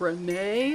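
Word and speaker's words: Reneigh: So it appears that there's another villager called Renee, but it's going to be spelled like Renee, like Neigh, like Renee, like a horse.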